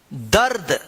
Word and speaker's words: दर्द: जो यहां पे है ये रेफ की मात्रा है, तो इसका उच्चारण जो है ना इससे पहले वाले शब्द के बाद जो है ना आधा र होता है, ठीक है ना।